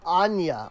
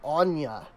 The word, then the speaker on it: Ain: Pronounced Anya or Anya.